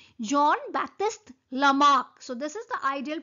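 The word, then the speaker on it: Jean-Baptiste Lamarck: you are pronouncing it you are writing Jean but you are pronouncing John John Baptist lamak so this is the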